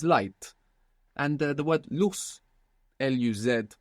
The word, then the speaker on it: luz: And the word luz, L-U-Z, so actually this Z would be pronounced th in most of Spain, luz.